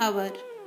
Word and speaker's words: hour: Examples are an apple, an hour. Here A is vowel and H is vowel sound which is silent.